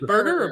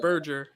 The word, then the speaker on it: Berger: Is it Burger or Berger? Do we know? I call it Burger. I don't care. It's Burger to me. I think like it's pronounced Berger just because I think that's the German pronunciation, but I think like